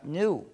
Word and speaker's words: GNU: Se usa en muchísimos juegos de palabras porque, según el diccionario, la G es muda y la palabra se pronuncia new, es decir, nuevo.